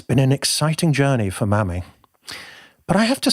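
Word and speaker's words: Mami: And Mammy is spelt M-A-M-I. So, it's been an exciting journey for Mammy.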